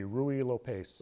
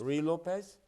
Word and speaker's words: Ruy Lopez: My best attempt at pronouncing it would be Ruy Lopez. Ruy Lopez?